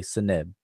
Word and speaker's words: Seneb: Now, in order to pronounce that, you have to stick a vowel between those consonants. So Egyptologists stick a what's called a schwa, or the generic, the E, between each of the consonants. So we say Seneb.